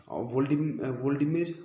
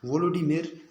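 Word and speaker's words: Volodymyr: में 2020 में, तो वो है गाइस आपका वोल्डिमिर ज़ेलेंस्काई, जो कि आप स्क्रीन पर देख रहे हो, वोलोडिमिर ज़ेलेंस्काई, ठीक है, वोलोडिमिर ज़ेलेंस्काई। देखो गाइस VOLODYMIR, वोलोडिमिर ज़ेलेंस्काई।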